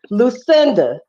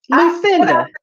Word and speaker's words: Lucinda: Lucinda. Stop saying my name wrong. Lucinda. Lucinda. Say it with me, girl. It's not Lucinda. Lucinda. Lucinda. Say it with me. Say it like you saying everybody else's name.